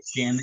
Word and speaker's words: salmon: Just like the Like Ellen salmon. salmon. Salmon. Salmon. Have your salmon. It's a Oh, I cool guess it's twist. the opposite because there is an L there and you don't pronounce it.